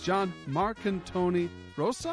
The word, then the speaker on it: Jon Marcantoni Rosa: Today's guest is John Marcantoni Rosa. Is that correct? Am I saying it right? Yes. Yeah, Awesome. you pronounce it better than most.